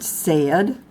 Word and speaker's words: said: memorized example the word said as say ID is not spelled se D even though it rhymes with bed fed lead my son still wants